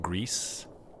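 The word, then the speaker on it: Gris: called I believe it's pronounced Greece, but it's um not spelled like grease grease.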